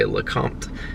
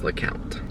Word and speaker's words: LeCompte: Sometimes I'll say LeCompte so that people know how it's spelled, but I think our family says LeCompte.